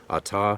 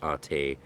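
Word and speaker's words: אתה: Ata, and that's where the mispronunciation originates, is from the poor Hebrew transliteration into English, Ate, but that's where that mistake happened. And they would have said Ata because they had Hebrew experts.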